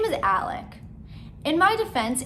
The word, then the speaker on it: Alex: rodeo his name is alec in my defense it is spelled alex but for whatever reason this sick and twisted